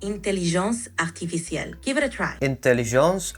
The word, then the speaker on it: intelligence artificielle: In French, artificial intelligence is pronounced intelligence artificielle. Give it a try. Intelligence artificielle. Très bien. Your pronunciation is great. Just remember to keep the R in artificiel soft.